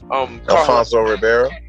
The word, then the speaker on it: Alfonso Ribeiro: Alfonso Ribeiro.